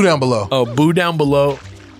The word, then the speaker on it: Belleaux: Down Below is like spelled like this, like a U and a B-A-U vibe. He's water boy character. Yeah, Bobby Boucher. It's like L-E-A-U at the end with an X at the end. L-E-A-U-X.